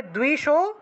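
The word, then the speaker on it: দ্বিষো: যশো দেহি, যশো আছে, উচ্চারণ হবে যশো, যশো দেহি দ্বিশো জহি, এই যে দয়ের নিচে বফলা, দয়ের নিচে বফলা থাকায় দুও উচ্চারণ, আর রস্যইকার আছে, এই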